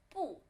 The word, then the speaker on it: 不: When it appears itself, you have to say 不. And when it's before third tone, you have to pronounce 不. And when it's before third tone, you have to pronounce 不. And if it's before second tone, you have to pronounce it 不 too. And if it's before fourth tone, it's second tone.